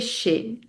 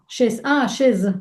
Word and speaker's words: chez: visiter, a besoin d'aller chez. To go Mhm. to. Aller, go, chez, to. Que. Chez, si, H, E. C-H-E-Z. Chaise. Mhm. Chaise, mais on prononce chez. On prononce Mhm. chez un docteur, par exemple.